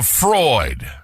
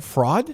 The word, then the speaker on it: fraud: She's a Freud. What is he trying to I say? think I had to spell out the pronunciation there. Fraud?